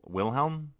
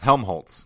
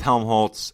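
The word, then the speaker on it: Helmholtz: um with uh will willhelm is that is no Helm Holtz gosh darn it keep getting his name wrong with Helm Holtz and uh marks but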